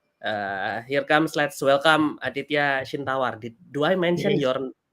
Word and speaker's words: Aditya Chintawar: next anyway um uh Here Comes let's welcome adya shawar do I mention your name correctly bro yeah